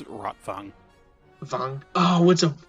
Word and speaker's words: Rotwang: but i think it's rotfong oh what's up like wagner yeah yeah because with german the w is pronounced like a v they eavesdrop on a